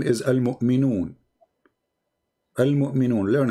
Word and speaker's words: Al-Mu'minun: You don't know how to say the name, my friend. The name is Al-Mu'minun.